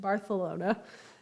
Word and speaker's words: Barcelona: of time in Barcelona how they would say Barcelona because everything has a lisp over there so if you want to be authentic pronounce it barthelona um I've I already